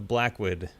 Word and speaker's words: Blacwyd: Voyage of Blacwyd.